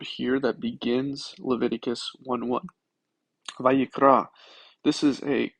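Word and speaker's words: ויקרא: Vayikra. This is a call, vayiktol, vayiktol. I prefer the modern Hebrew pronunciation of vav, of the word kara, which means to call out.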